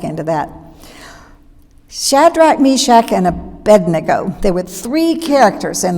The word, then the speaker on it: Abednego: shadrach meshach and abednego i have a hard time pronouncing abednego because when i was a girl scout at camp singing that song i always said a bendigo talk about undoing old